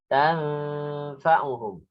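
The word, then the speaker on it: تنفعهم: Di sini nun bertemu fa ya. Tanfa'uhum. Fama tanfa'uhum. Ya. Saya ulang. Fama tanfa'uhum syafa'atus syafi'in. Ya, jadi bacanya begitu ya. Lebih panjang dari mama itu cuma 2. Tannya itu lebih panjang.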